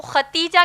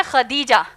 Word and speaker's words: خدیجہ: ہم عام طور پر ان کو ختیجہ کہتے ہیں، دراصل نام ہے خدیجہ جس کے ہجے ہیں